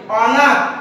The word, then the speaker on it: অনাথ: হবে, থ অর্থাৎ অনাথ অনাথ অ এইভাবে উচ্চারণ করা যাবে না, অনাথ অনাথ বলা যাবে না, অনাথ অনাথ, অর্থাৎ ধাক্কা খেয়ে থেমে যেতে হবে, আর ধাক্কা খেয়ে যখন